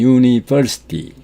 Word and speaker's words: university: The letter U in university 이 university에서 U는 university 이렇게 UN 이렇게 써 있지만 U가 발음이 되지 않고 the word begins with the sound Y, Y로 시작이 됩니다.